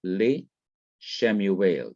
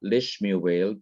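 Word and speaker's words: לִשְׁמוּאֵל: So you have le Shemuel, not lishmuel, but le Shemuel. So the second schwa remains vocal, that is, it is to be pronounced as it was before the preposition was attached.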